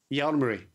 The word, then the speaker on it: Jalmari: Jalmari.